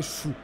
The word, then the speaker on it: Xu: Alors ça s'écrit XU. Et j'ai appris que ça vous disait Chou.